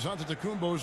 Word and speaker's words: Antetokounmpo: The Nigerian way, you gotta say with a D, so it's Antetokounmpo. But in the Greek way, you say with the N.